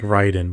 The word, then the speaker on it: Raiden: It It's like Ryden, but it's spelled like you say Raiden.